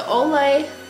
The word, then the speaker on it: Olay: up the ol hson I always say the name wrong I don't know why I think it's glow H2O they might as well just change the name at this point the ol H oh my gosh the